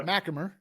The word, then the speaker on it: MacHamer: said his name wrong since he's been here, and he finally corrected me today because I thought it was MacHamer. He's like, that's not even close. No, MacHamer.